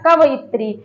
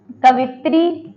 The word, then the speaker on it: कवयित्री: तो यहाँ पे जो इसका शुद्ध उच्चारण है ये इस प्रकार से लिखा जाएगा कवयित्री। बहुत सारे बच्चे लिख देते हैं, क्या लिख देते हैं? कवित्री, कवित्री ऐसे लिख देते हैं, लेकिन ये क्या होगा?